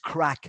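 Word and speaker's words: craic: called c-r-a-i-c and it it's pronounced crack so if you have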